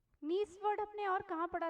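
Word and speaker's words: gneiss: लिखा रहता है और इंग्लिश में आप देखेंगे तो जी साइलेंट होता है आपको ऐसा लिखा मिलेगा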